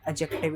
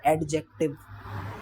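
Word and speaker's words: adjective: यह ध्यान रखना ए और जे के बीच में ए और जे के बीच में जब कभी भी डी बोला जाता है तो डी साइलेंट रहता है। This is called एडजेक्टिव। इट्स नॉट एडजेक्टिव।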